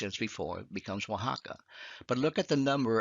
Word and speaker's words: Oaxaca: state of oaxaca now this oaxaca is spelled differently than it sounds if you change it o to a w would be y and then x to the h as before becomes oaxaca but look at the